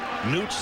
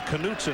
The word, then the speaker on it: Knutson: continue to talk about newts and the Knutson I should say is how you pronounce it Ryan Knutson has moved